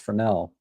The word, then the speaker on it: Fresnel: a Fresnel lens it's spelled Fresnel, but it's pronounced Fresnel.